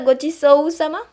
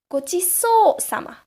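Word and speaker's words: ごちそうさま: It's not gochiso-sama. It's gochiso-sama. It will come with practice naturally. Don't worry. Gochiso-sama. So it's more like a double O sound.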